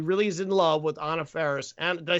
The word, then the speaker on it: Anna Faris: her because he really is in love with Anna Faris.